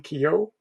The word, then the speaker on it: Keough: How do you pronounce her Kyo, surname? Kyo, Kyo.